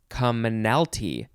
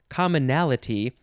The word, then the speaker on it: commonalty: is a weird word it's commonalty that's not how you say it the word you say commonalty it's a weird weird word it's not commonality it's commonalty anyway it's the one